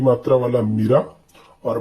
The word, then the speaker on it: मीरा: थी, इस प्रकार से, तो यदि हम इसका उच्चारण छोटी की मात्रा में करेंगे, छोटी की मात्रा में करते हैं तो ये इस प्रकार से हो जाएगा, मीरा कृष्ण की दीवानी थी। तो मीरा बोलने से ही यहाँ पर आपको अटपटा लग